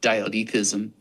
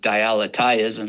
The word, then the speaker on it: dialetheism: own special way, but some people pronounce it dialechism, but I pronounce it dialechism because it just gets the aletheia from the ancient Greek sound really in there, because that's what it is anyway.